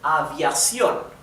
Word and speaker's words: aviación: So this one has the stress, the intonation in the last syllable, and it ends with N, therefore we have a tilde on the O, right?